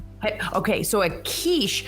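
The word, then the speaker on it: quiche: I pronounced it wrong at first. I thought it wasQiche, but then I had to look up how how it was pronounced in lots of languages. And um so it's kiche is what I've heard.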